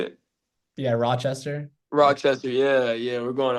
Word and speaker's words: Rochester: are okay yeah we're going to um rock rockchester how you say it yeah Rochester Rochester yeah yeah we're going out there so